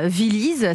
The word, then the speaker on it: Villyz: Viliz, ça s'écrit V-I-2-L-Y-Z.